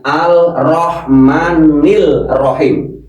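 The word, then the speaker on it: الرحمن الرحيم: Karena ini alsamsiyah, ini alsamsiyah masuk kategori altrib juga. ini sangat amat luas ya. Kalau mau mencari makna bacanya arrahman nil rahim kalau mau mencari makna. Tapi kalau kita mengajarkan kepada seseorang itu diterangkan ini namanya alsamsiyah. Kalau ketemu huruf ro alnya tidak terlihat langsung ar.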